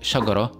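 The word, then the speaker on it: شجرة: So the word shagara, if I add Sukoon on top of the last letter of it, then it will be pronounced as shagara with the Heh sound.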